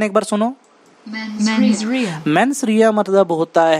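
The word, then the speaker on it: mens rea: आप इसका प्रोनाउंसिएशन एक बार सुनो। मेंसरिया मतलब होता है गिल्टी माइंड, इंटेंशन का गलत होना।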